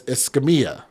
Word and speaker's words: Escamia: It's Escamia. I keep wanting to pronounce it in a different way just because I just have trouble saying it.